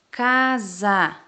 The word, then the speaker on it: casa: Casa também está entre vogais, ó, mas busca, ó, o som de Z. Casa.